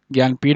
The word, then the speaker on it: ज्ञानपीठ: अच्छा ज्ञानपीठ का स्पेलिंग ये होता है जनानपीठ ऐसा है ना ज्ञानपीठ बोला जाता है लेकिन लिखा ऐसे जाता है।